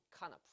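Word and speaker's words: כנף: 카나프라고 있는 단어입니다.이 발음 기호가 있다는 설명을 제가 한번 여러분에게 드린 적 있죠? 네. 이렇게 읽는 단어입니다. 카나프.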